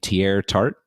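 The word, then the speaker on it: Teair Tart: lineman um I believe you say his name tier tart do have that correct correct yeah that's right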